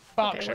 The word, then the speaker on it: Berkshire: E-R is pronounced R. Berkshire, okay, Clerkenwell, Highland, okay.